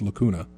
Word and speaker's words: Lacuna: the game and i'm i'm i'm butchering the pronunciation of that it's lacuna um i don't know anything about the game